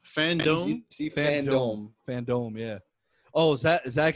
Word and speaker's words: FanDome: Wait, how's it pronounced? Fandome? DC Fandome. Fandome, yeah.